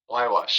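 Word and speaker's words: Huayhuash: And for anybody who looks it up, it is not like it sounds. It is HUAY, and that spells Wywash. Wywash.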